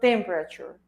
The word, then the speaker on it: temperature: Miren que se escribe casi igual en inglés y en español, pero la pronunciación y el acento de esa palabra está en la primera sílaba.